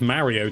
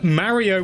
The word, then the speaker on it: Mario: get the internet upset Mario with a short a is closer to the Japanese pronunciation of Mario it's not the same but it is closer than Mario so so you're saying